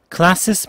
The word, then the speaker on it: classiest: classiest people 이라고 classist 라고 하는 t 발음을 기대하시면 안 들릴 겁니다.